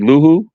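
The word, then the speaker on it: Luvu: Anyway, I'm just gonna say Armstrong, linebackers, Robbie Wagner, Davis, Frankie Luhu. That's how you say his name? Yeah, Lavu. Yeah, Lavu.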